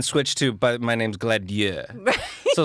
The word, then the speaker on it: Gladieux: official pronunciation, according to the French producer, is Gladieux. Okay. Gladieux. I'm not gonna pronounce it that way though.